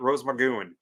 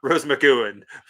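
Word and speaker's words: Rose McGowan: to monster Pala hope to go and meet Rose magon that's how you say her name Rose McAn she's awesome she's friendly Michael is now Jessica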